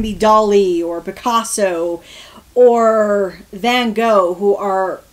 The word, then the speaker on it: Van Gogh: Not everyone can be Dali or Picasso or Van Gogh, or Van Gogh. Sorry, I have to pronounce his name right, because you have to cough when you say it. Remember, it's Dutch.